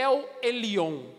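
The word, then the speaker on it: אל עליון: Eu procurei, a pronúncia é El Elyon, o Deus Altíssimo.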